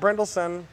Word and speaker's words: Brynildson: And we are at Firestone Walker with Matt Brynildson. That is pronounced correctly.